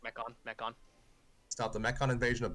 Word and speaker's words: Mechon: I'm going to pretend I pronounced that correctly. That's correct, Mechon.